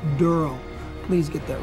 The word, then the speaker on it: Daryl: he plays durl and it's spelled d r l e it's not darl it's durl please get that right